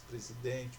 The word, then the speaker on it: presidente: Então aí vocês têm as palavras presidente, percebeu, daqui, hábito e papagaio. Então iniciando ali presidente. E aí? Qual é a sílaba tônica? Presidente. Então é o DEM.